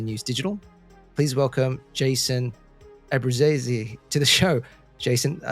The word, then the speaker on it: Abbruzzese: My family, it's a very Americanized way of saying, we say Abbruzzese, but I believe the Italian familia and from which I come from, it's closer to like Abbruzzese.